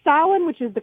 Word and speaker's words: Samhain: called The Town of, I'm going to say Samhain, which is the correct pronunciation, but I can almost guarantee that they're pronouncing it Samhain.